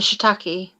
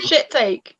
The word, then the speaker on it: shiitake: I say how it's spelled. It says shiitake. Shiitake. Shiitake. If it's Literally sounds like you're saying shit take. there'd be an I and then it'd be IE at the end, wouldn't it?